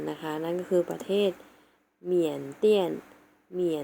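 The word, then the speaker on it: 缅甸: เซียน เหมือน กัน นะ คะ นั้น คือ ประเทศ เมียน เตี้ยน เมีย น เตี้ย น เมียน เปลี่ยน นัก เรียน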